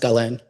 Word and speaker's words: Galen: It's pronounced Galen, but thanks.